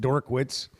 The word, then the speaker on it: Drinkwitz: uh JP said Eli drink wit's name is pronounced dor witz uh I mean we've gotten in like now